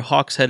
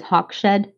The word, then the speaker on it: Hawkshead: They're also credited with inventing the Chaser Hawkshead attacking formation, which we'll discuss in Chapter 10, potentially. Can I point out just pronunciation? I always read that as Hawkshed because that's just like Abby's Broad's word.